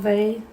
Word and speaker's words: Weill: Weill. Yeah. I pronounce Weill like Oy-Vey.